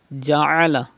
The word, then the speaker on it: جعل: Ja'ala. Pronounce Ain from the middle part of your throat.